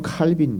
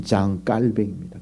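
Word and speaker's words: Jean Calvin: 영어식으로 하면 칼빈 그러죠. 칼빈. 원어 발음대로 하면 장깔뱅입니다. 깔뱅.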